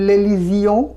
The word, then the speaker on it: l'élision: সামনে যদি একটা আর্টিকেল দিই তাহলে উচ্চারণটা হবে লেলিজিয়ন।